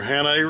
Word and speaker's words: Hannay: And by buttons, it's just these little here, how do you pronounce the name of these reels? These are Hannay reels.